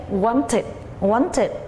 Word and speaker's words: wanted: Want tự, chữ âm want đã có chữ âm t, so we say wanted.